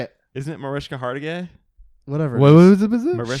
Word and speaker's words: Hargitay: And Mariska Hajgate, or however you say it.